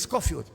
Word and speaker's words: Scofield: Se escribe Scofield, es Scofield.